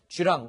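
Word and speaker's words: 巨浪: 이렇게 해석을 할 수 있을 것 같은데 중국식으로 발음하면 쥐 람 일하고 있습니다 지황 원 부터 시작해서 esl bmb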